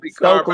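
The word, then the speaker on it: Stokely Carmichael: Stokely Stokely.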